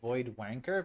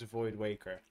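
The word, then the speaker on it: Voidwaker: Like I didn't mean to say void void wanker, but that's that's not how I p pronounce void waker, but I was excited.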